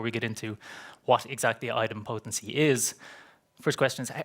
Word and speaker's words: idempotency: So item potency. So that's that's how we'll typically pronounce it.